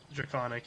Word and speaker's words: Draconic: I'm not telling you Dragonic. now. Dragonic. Draconic, yeah. Okay, thanks, Ray. Is that Yeah, how I you speak pronounce Draconic.